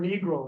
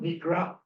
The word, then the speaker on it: Negro: uh you know and it's over the pronounce pronunciation of the word negro it's not Negra it's Negro and uh at one point the